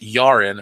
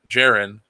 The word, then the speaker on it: Jaren: My first name is pronounced Yaren, or Jaren, but that's okay.